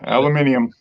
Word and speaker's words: aluminium: them sure no actually I think we pronounce it the way it's spelled they they insert an extra I in there yeah a sure whatever